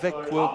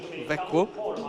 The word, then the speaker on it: Växjö: Hampus Vidlund of the Växjö club, and that's got to be one of the toughest Swedish pronunciations, V-A-X-J-O, Växjö. Växjö, but that's taken a lot of practice.